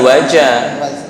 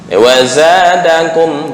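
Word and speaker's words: وزادكم: Waza bukan wajah. Beda ya. Idza zulzilatil sama idza juljilatil beda. Wazadakum bukan wajah, tapi wazadakum. Wazadakum fil kurang lentur. Za. Wazadakum bukan wajah. Kalau wajah tercampur dengan jim.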